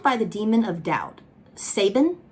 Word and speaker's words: Sabin: the demon of doubt saban okay it's another thing i know y'all are gonna come for me because when i read the book i pronounced it sabine in my brain i can't